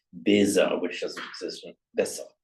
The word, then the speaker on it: besser: But for example, a word like besser, which is written with a double S, Besser. you wouldn't say besser, it's just besser.